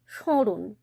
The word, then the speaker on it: স্মরণ: কারণ nasal tone আসছে এখানে কিন্তু ম টা উচ্চারিত হচ্ছে না তাহলে উচ্চারণ কি হচ্ছে স্মরণ স্মরণ কিন্তু কখনোই নয়